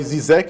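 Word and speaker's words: Žižek: E como o próprio Slavoj Zizek, eu sempre tenho dificuldade de pronunciar, porque tem um circunflexo no Z, né? Mas, enfim, o próprio Slavoj Zizek, ele faz uma reflexão... Como se fosse G.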